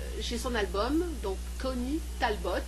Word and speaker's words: Talbot: son album, donc Connie Talbot, comme ça se prononce, avec un T à la fin, au T.